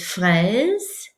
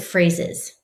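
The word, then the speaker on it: fraise: you're going to use the word for strawberry which is fres don't pronounce it phrases because jador phrases i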